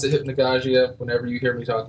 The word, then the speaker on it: Hypnagogia: you can pronounce it two ways hypnia or hypnogogia okay um I pronounce it hypnogogia whenever you he me talk about it that's